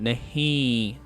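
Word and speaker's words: نہیں: hear a nasal sound nahi at the end we simply nasalize the vowel at the end we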